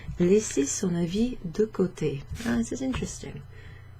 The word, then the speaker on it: avis: Avis. But we pronounce it avis, okay?